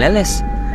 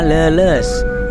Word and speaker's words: Leles: Nah, kali ini kita sudah berada di stasiun Leles. Namun masih banyak orang yang menyebutkan nama stasiun ini dengan nama Leles. Ya memang bisa dibilang sih, hurufnya sama-sama E, namun pelafalan dan artinya berbeda ya teman-teman.